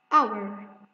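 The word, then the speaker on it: hour: Our. As we notice here that we didn't pronounce the letter H because H here is silent.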